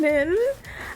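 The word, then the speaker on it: Nyn: I think it's pronounced Nin. I think so. It's N Y N.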